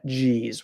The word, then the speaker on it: Geez: Geez with a J sound.